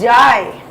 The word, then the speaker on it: Jai: It's not Jay. We keep calling him Jay. It's Jai. Yeah, you know, I know that.